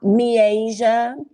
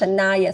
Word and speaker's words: Shanaya: jess b alexay uh me asia uh okay it's pronounced shanaya thank you so much